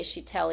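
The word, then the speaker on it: Kjetil: pronounce it, is uh Chitel Krostag Chitel Krookstad. Now that starts with a K. Chhatel, even though it doesn't look like Chhatel, but um this guy is this skinny, tall, really good dancer.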